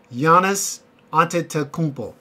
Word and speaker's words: Giannis Antetokounmpo: So Giannis Antetokounmpo, that's how you pronounce his name.